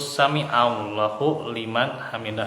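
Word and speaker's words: sami'a Allahu liman hamidah: Nah untuk i'tidal ya, membaca bacaan tasmi itu sami Allahu liman hamidah ya, pakai ain.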